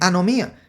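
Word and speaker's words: ἀνομία: vamos a ver aquí Qué significa significa se pronuncia anomía y significa y la ilegalidad es decir violación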